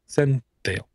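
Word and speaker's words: Zentyal: Well, then for non-enterprise, small business, you should really look at ClearOS and Zenthale, which I can never pronounce. You just did. Yeah, Zenthale.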